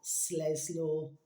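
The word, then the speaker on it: Sleslor: way not in that one called Slesaw I'll spell it for you. Capital S, L E S, L O R. Sles law.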